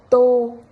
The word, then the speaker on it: tô: Alors, pour le O avec un chapeau, on va le lire comme un O de pôle. Pôle. Exemple avec to, qui veut dire un bol. Tô.